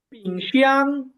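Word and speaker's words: 冰箱: আইএনজি এর উচ্চারণ হচ্ছে ইং। তো পি, পি আছে এখানে সামনে, তো পি আই ইং।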